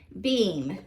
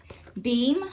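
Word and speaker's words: Behm: this goes to beam b excuse me and your last name is spelled b-e-h-m beam i guess is how you pronounce that number five is the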